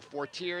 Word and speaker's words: Fortier: That is Frida Fortier, or Fortier as they call it. If you're in America, if you're in France, it's Fortier.